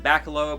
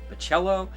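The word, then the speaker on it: Bachalo: I always said Bacalo, but it's Bacello. I'm not sure how you ever pronounce that, but I picked this up because I love his artwork.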